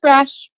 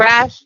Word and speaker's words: Rasch: Just Rasch. Just Rasch. Nothing but Rasch. Perfect. It's easy, no weird pronunciation or anything. Nope. Rasch, like Rash like Dash.